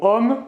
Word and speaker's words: homme: Le mot homme commence par un H muet.